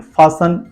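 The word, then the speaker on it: fasten: एस टी ई एन का sense है T silent है लिसन एंड फसन एफ ए एस टी ए टी के बाद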